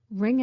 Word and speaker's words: wring: he is a copywriter some words sound the same wring out the clothes I'm going to wring your neck meaning I'm going to strangle you don't do that kids ring sounds the same as ring like a ring on your finger more on ring in